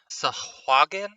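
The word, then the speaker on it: sahuagin: you say the word for the fish people sahagan sahagan I'll type it in yeah so different to what I Us in my whole life Sagen sahagan I've heard it so many different ways I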